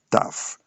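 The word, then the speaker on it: tough: Phone le britannique vont dire found et on a le GH dont les mots comme taf. On écrit t i gh taf comme dur ou bien difficile.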